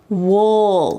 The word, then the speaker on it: we'll: and then we'll see notice the pronunciation I didn't say we'll see with a clear we'll see instead I used this reduced pronunciation and said wool it almost sounds like a short you we'll see we'll see